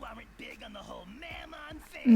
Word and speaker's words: Mammon: Well, you have a packed day today, and I know you aren't big on the whole Mammon thing. Mammon, that's how we pronounce it.